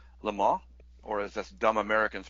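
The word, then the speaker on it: Le Mans: right my uh final movie is it's called lar or as as dumb Americans pronounce it lemons um and the star Steve McQueen and it's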